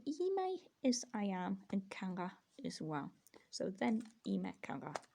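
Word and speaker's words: καλά: The stress is usually in Greek on the last syllable, kala.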